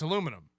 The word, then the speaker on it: aluminum: it it's like so the British people put the eye in there which makes it aluminium we don't we don't do the ium we just do the um so it's aluminum so you're both every